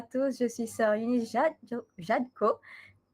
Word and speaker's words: Eunice: Je suis Sœur Eunice Jadko. I changed it the pronunciation. I took the French pronunciation, and I'm from the local congregation of Monaco.